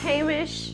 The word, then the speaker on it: Heimish: Heimish. Hey. Mish. Yes. Heimish BB cream. Yes. Okay. Go. Heimish Go. BB cream. I was saying it wrong.